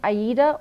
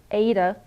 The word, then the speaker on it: aida: cloth which is this it's called 14 count aida or ada either pronunciation is fine but it's a cloth